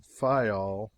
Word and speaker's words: Fayal: People there pronounce it Fayal, and put the accent on the first syllable.